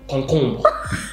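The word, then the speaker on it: concombre: Concombo. That's how you say it in French.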